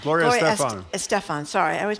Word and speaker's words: Estefan: tell us, I always mispronounce the last name. It's Estefan. Estefan. Gloria Estefan.